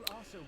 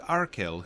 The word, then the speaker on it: Arcil: After we report to Arcil, whose name would certainly not have a soft C in it, we should return to Aedoras.